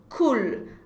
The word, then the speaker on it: cool: Cool. Attention à la prononciation. Não é U, é cool. Cool. Ok? No final a língua encosta no céu da boca.